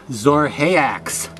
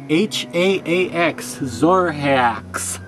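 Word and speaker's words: Xorhaax: A very rare mask from a long time ago with the strange name of Zorhaax. And that's spelled X-O-R-H-A-A-X, Zorhaax.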